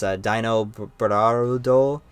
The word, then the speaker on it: Dinobarudo: His Japanese name is, I'm just going to pronounce it Dinobaldo, It's Dinobarudo, which seemed quite silly to me at the time, just as a name.